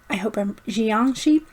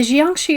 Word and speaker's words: jiangshi: Jiangshi, I believe is how you pronounce it.